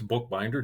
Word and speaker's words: Bookbinder: It is spelled just the way it sounds, Bookbinder.